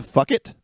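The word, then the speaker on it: Phuket: I believe it's pronounced Fuck It. P-H-U-K-E-T.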